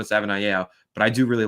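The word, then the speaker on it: Savaiinaea: We've been corrected before on the pronunciation of that. I've Googled it, and that's how it says to pronounce it on the Arizona Wildcats website. So I'm pretty sure it's Jonah Savanaia, but I do really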